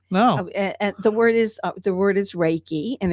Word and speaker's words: Reiki: this, but tell me about your occupation, your recce manager, master, and what is that? I had never sort of heard about Oh, that. you haven't. No. And the word is Reiki, and it's spelled REIKI, and it's a spiritual